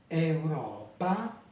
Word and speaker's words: euro: Puis on a euro. Ici, la voyelle, la première voyelle, toujours, d'accord, porte l'accent et dans ce cas-là, elle est ouverte.